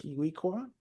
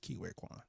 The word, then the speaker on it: Ke Huy Quan: And I Kiwi, might Kiwi, have mispronounced it. Kiwi Kwan?